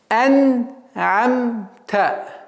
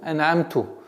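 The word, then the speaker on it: أنعمت: Нужно обращать внимание на эту огласовку та, чтобы не было произношения ту, ан'амту, которое очень грубо меняет смысл этого слова и в контексте всего аята.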